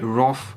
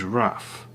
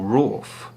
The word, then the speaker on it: wrath: be using the noun, which is wrath with an A, or rawth, which is also an A, not an O.